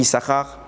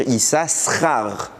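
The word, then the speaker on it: יששכר: on la prononce pas comment on écrit ISAR avec de chines normalement on devrait dire is RAR mais le deuxème Chine il est là il est écrit jamais vous ne lirez il est en quelle position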